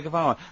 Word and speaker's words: Guevara: Che is like shake, and his surname is like guitar.